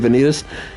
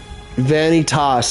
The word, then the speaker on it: Vanitas: she reminds me of venitas he is kind of yeah uh yeah he is basically venas vanitas I should say that's how it's truly pronounced in in the language of yeah ah what is